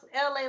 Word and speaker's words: Elay: Pronounce LA like the city.